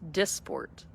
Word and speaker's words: Dysport: It's pronounced Dysport.